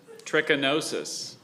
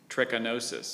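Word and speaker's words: trichinosis: Espalier or Espalia is spelled especially. This is scary. tchinosis.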